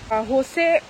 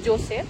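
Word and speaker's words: José: নাম হলো হোসে বারাডো হোসে স্পেলিংটা হলো জে ও এস ই জে ও এস ই টা এখানে আমরা বলবো জোসে এখানে উচ্চারণ হয় হোসে আর পার্কটা তৈরি হয়েছিল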